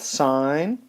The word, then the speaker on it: sine: cosine and tangent and they're spelled a little bit different than the one we pronounce them this is spelled sin cos and tan but that is just short for sine cosine and tangent and these three trig